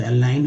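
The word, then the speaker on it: align: नॉन अलाइंड, ये देखिए जी एन जो है इसमें, जी और एन जो है इसमें, इसको जी साइलेंट रहता है और ना का उच्चारण होता है, तो अलाइन हो गया, अलाइनमेंट 3 बार, नॉन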